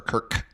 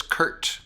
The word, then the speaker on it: Kurt: you so much for is it Curt or Kirk it's Curt Curt that's what God's yeah the last name is pronounced hurt the